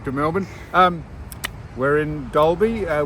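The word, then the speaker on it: Dalby: Um, we're in Dolby, uh, which is spelled D A L, but it's pronounced Dole. And I, uh, asked Susan, how many people would be living in Dolby?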